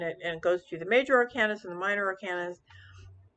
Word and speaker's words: Arcana: goes through the major arcanas and the minor arcanas I pronounce it Arcana not ARCA um and uh you know